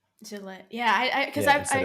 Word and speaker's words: Gillette: it because you're saying Gillette which is which is the way to pronounce it in I guess it's French right is is where the